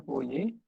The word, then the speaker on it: Fourier: itu oleh para Joseph fourier Hai Joseph fourier ini beliau-beliau ini eh matematikawan ya Joseph ulir Uye ya katanya dibacanya voje orang Prancis kelahiran 21maret